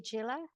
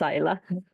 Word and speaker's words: Isa: The first is I hope I'm pronouncing your name correctly. Agilla. It's Isa. Isa.